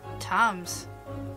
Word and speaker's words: Thames: Thames. Ooh, I've been pronouncing it wrong.